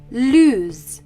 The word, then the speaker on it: lose: of the two verbs lose Loose as we can hear there is a difference in pronunciation lse has a z sound loose has an S sound there is also a difference in spelling lse has one o loose has two o's loose lose is a